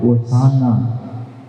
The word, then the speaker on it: ஓசானா: வரவேற்ற பொழுது அவர்கள் பாடிய பாடல் ஓசானா, ஓசானா என்பதுதான் சரியான உச்சரிப்பு என்பதால் நாம் ஓசானா, ஓசானா என்று பாடுகின்றோம்.